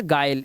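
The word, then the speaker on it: guile: अब देखो यहां पर यू के बाद क्या है आई आई क्या है हमारा एक वाउल है तो यहां पर इसे पढ़ेंगे क्या गायल इसी तरह से यू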